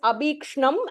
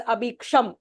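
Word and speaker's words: अभीक्ष्णम्: So for example, it is abhikshnam and I pronounce it as abhiksham, right? Then that is a mistake.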